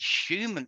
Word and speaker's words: Schumann: And, you know, again, if you look at the way the word Schumann is spelled, S-C-H, right? But it's pronounced Schumann.